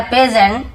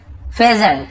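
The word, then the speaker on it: pheasant: A crow and अ पेजेंट, ठीक है, इसे हम क्या बोलते हैं, फेजेंट, ऐसे ऐसे उच्चारण फेजेंट।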